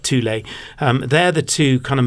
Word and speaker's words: Thule: So there's a number of brands that make bike racks, typically Fiamma and Thule, and that's how it's said, not Fuel, but Thule.